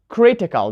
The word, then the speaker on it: critical: law Jill logical or will have critical so let's count Kree T Cole right will say critical the stress is on the first syllable and while the first